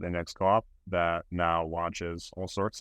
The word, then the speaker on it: Index Coop: And thank you for pronouncing it, because I always thought it was Index Co-op, but I keep hearing like guests say Index Coop.